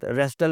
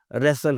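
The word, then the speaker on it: wrestle: रेसल नहीं होता, टी के साथ, रेस्टल नहीं होता, रेसल होता है।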